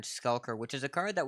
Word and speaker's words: Skulker: it for me yes it's stalker is a common mispronunciation but it's dark iron skulker which is a card